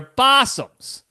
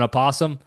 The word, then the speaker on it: opossum: I know we call them possums, but it's spelled osum. It's like an apossum, but we call them possums. I don't know why. Just cuz it's probably easier to pronounce.